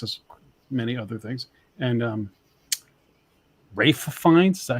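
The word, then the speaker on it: Ralph Fiennes: And Rafe Fiennes, is that how you say his name?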